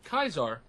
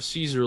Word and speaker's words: Caesar: lot of stuff with Kaiser or Caesar lately, as the good old NCR likes to refer to him. Well, I think anyone outside of the Legion refers to him as Caesar.